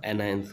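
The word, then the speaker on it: anions: देखिए बेटा ये स्पेलिंग देखने के बाद हम लोग इसको कैशंस भी बोल सकते हैं, लेकिन कैशंस नहीं बोलना है हम लोग को। इसका प्रोनाउंसिएशन कैटायंस होगा और इसका एनायंस होगा, ठीक है।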